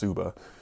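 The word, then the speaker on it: tsuba: pieces they put in here here is a subba which is the handguard for a sword if I remember correctly I think it's spelled TS uba but it's pronounced subba um obviously I'll get some shots of it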